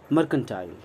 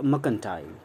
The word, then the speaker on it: mercantile: सो मर्चेंट, मर्केंटाइल या मकंटाइल, आर बोल भी सकते हैं, आर नहीं भी बोल सकते, आर बोलेंगे तो अमेरिकन इंग्लिश होगी, आर नहीं बोलेंगे तो ब्रिटिश इंग्लिश होगी, ब्रिटिश स्टाइल होगी, ब्रिटिश